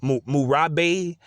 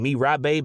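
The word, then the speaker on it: Mirabeau: what's his name what's murad bay i think that's how you say his name me rabe because it's spelled m-i-r-a-b-e-a-u you know he got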